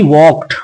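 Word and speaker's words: walk: ही वॉक्ड, वॉक का मतलब होता है चलना, और यहाँ पर एल है, वॉक नहीं पढ़ते हैं क्योंकि के से पहले एल होता है साइलेंट।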